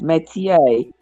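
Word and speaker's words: métier: r met me Meer okay that's how it's pronounced Meer it is a trade a profession or occupation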